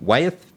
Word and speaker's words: Wyeth: After 10 years in occupational medicine, he moved to Wyeth Pharmaceuticals Did I pronounce that correctly?